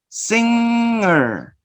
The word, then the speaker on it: singer: as I told you the last class, no, sometimes we confuse this sound and we add the g sound. Remember, singer, singer, singer, singer, no g sound.